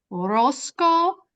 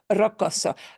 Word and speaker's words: rocoso: si el sendero es rosco, escarpado o lodoso. Bien, bien. And that one word there, rocoso, rocoso, rocoso, rocoso. You're missing one little syllable there. So rocoso, but really good.